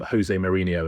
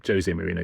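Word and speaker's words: José Mourinho: Like for years and years, everyone called him Jose Mourinho, and he's Jose Mourinho because he's Portuguese, and he used to get angry that people would mispronounce his name.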